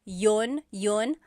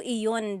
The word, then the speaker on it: iyon: You might hear people say, ginawa ko iyon dahil mahal kita, but usually the letter I sound is dropped.